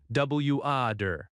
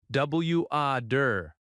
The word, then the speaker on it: water: In American English, the T often sounds like a soft D, W-A-der. Try it, W-A-der.